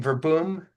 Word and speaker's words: Verboom: Um, and how do you say the name Verboom? Yes, Verboom? I pronounce it in the English style, verboom.